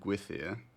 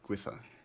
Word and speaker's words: Gwythyr: Because I said Gwythyr, or Gwythyr. Is that close, or I don't know? Or is there a proper pronunciation? Post the art. The first is right. Gwythyr.